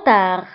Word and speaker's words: tard: C'est trop tard. C'est trop tard. C'est trop tard. C'est trop tard. فبالنسبة لترو تكتب بب في آخر الكلمة ولكن لا ننطقها، وتار تكتب بالد في آخر الكلمة ولكن لا ننطقها.